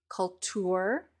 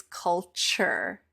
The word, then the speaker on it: culture: the word culture culture the T and the U when they are next to each other blend into a new sound and the new sound is CH culture culture so this